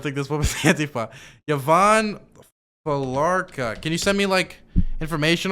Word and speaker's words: Felarca: Yvonne Falarka. Can you send me information on these people? Yvonne Falarka. Her name is spelt Yvonne. Last name Falarka, Felarca. Felarca.